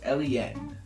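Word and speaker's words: Eleen: them down, and then they pronounced them not at all how I would expect to like it seeing them written down. Eliane is spelled E-L-E-E-N. Ooh, not how I would have guessed to say exactly.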